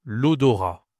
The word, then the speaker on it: l'odorat: Et c'est donc l'odorat. masculin un odor attention tu ne prononces pas le t ici.